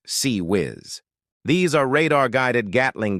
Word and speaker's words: CIWS: The close-in weapon systems known as CIWS, pronounced C whiz.